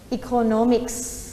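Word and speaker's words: economics: ว่า อีก คน nomex อีก โค โน มิค ส์ นัก เรียน อย่า ลืม เสียง S หาย นะ คะ ชนิด ถึง ข้าว ของ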